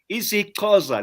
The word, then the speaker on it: isiXhosa: isiXhosa, let me say it properly, from Ngwadi all the way from the Eastern Cape.